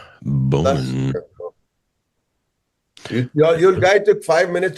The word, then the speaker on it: Boman: I think it's Bowman. It's Bman. You know, Bman. Awesome. Bman. Am I pronouncing that right or now? I'm self-conscious about it. Completely incorrect, but it sounds perfect.